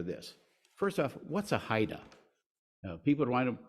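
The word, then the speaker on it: HIDTA: we had were this first off what's a Haida people want to pronounce it hia let go it's actually pronounced Haida and then what is the national marijuana initiative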